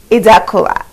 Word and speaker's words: Idakula: Allow me to introduce to you Idakula, also known as. Did I pronounce it?